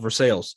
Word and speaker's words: Versailles: from lexington area kentucky it's called versailles for the global audience it's spelled versailles yeah but i'm from kentucky so it's country so it comes out for sales uh just outside of